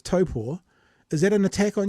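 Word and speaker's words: Taupō: of course it wouldn't if if it's not taupo but it's Topo is that an attack on you personally of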